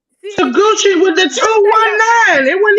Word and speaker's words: Taguchi: ring name Takuchi? Yeah, it's Taguchi.